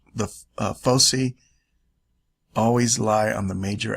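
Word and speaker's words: foci: distance between the fosy some people pronounce this fosi folai so you could say the hard C soft SE whatever you want I've heard it said all the different way okay so the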